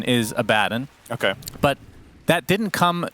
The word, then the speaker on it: Abaddon: I understand that the correct pronunciation is Abaddon.